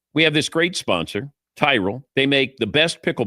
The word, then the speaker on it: Tyrol: It's Tyrell Pickle Ball Shoes. You spell it T Y R O L.